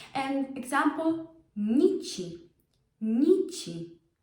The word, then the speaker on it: nici: If you would try to put the short ni, it wouldn't work. It would be too hard to pronounce. Nchi. You hear it? Nchi. You can't pronounce nchi. It's nichi. Doesn't work. Same with Niemcy. You can't. You need that softening sound for the ni to flow.